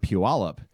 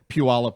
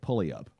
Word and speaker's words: Puyallup: something he had watched where Puyallup was featured and he's like that's how he knew how to say it when I first move up here I called it pulley up yeah it's like you're